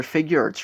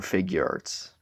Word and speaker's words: Figuarts: much also I think I'm probably saying it wrong because I always thought it was figure Arts but I noticed recently that the package technically says fig Arts but I can never